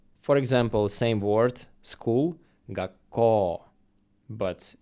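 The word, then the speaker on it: 学校: If u comes after o sound, it doesn't sound like u, it sounds just like o. For example, same word, school, gakkō, but it's actually writing gakkō, but pronouncing like gakkō, long o.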